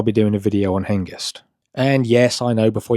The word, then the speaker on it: Hengest: Um, I'm pretty sure it's pronounced henist because the g comes before the e and therefore it's pronounced year, not j.